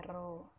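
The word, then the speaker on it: ρ: Tulis rho ya, bacanya rho.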